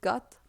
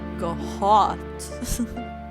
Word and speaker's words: Goht: I don't know how to pronounce it because it's reversed from Goth, like Gothic, Goth. So it's probably not Goth, it's probably like Goht.